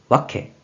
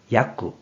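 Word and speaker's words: 訳: 그래서 번역할 역이 되었고 뜻으로는 와케, 와케, 음으로는 야쿠, 야쿠로 각각 발음한다고 했어요.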